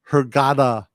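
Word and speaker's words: Hurghada: B, fixing my pronunciation here. Hergada.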